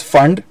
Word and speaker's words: Pfund: is Pfund so it's fund don't pronounce the P it's fun series okay